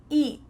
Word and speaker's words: eat: Eat. No, because I'm using a stopped T. My tongue is stopped at the top of my mouth. Eat. And I don't let that air follow through.